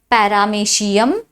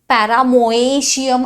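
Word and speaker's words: Paramecium: now again ऑर्गनिझमची व्लवक्स पॅरामेशियम पॅरामोशियम अस नाही करायचा ्याचा उच्चार पॅरामेशियम उच्चार जरी मेशियम उच्चार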